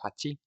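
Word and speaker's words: 八: And this character or the number eight is actually pronounced hati.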